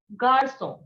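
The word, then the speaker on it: garçon: the letter g is gaso what is it garson and agar so means boy influence okay so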